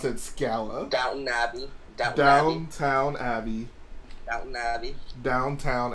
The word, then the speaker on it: Downton Abbey: You can't get mad at Jedi Bob for saying Downtown Abbey and then pronounce it Scala. Downton Abbey.